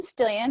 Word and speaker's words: Stillion: I'm Stillion. It rhymes with million or billion.